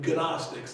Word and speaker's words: gnostics: saying these gnostics okay you don't pronounce the g but gnostics if you will who